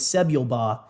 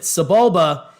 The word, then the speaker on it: Sebulba: star wars insider and we thought his name was sebial ba after we found out you pronounced it subulba he still this is